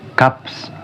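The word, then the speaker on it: 값: Kalau tidak ada vokal, ya semisal nggak ada vokal nih belakangnya, tetap dibaca itu gap. Tapi kalau ada vokal kayak I atau A atau E, itu jadi bacanya itu gap si. Semisal nih gaps, kan yang pertama nih gap, tak ada vokal bacanya gap, terus ketambahan vokal I jadinya gapsi yang artinya itu harga.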